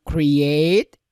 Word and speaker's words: create: yang ramahnya restore point caranya kan kriyet ya bukan create Ya enak bacanya kruet juga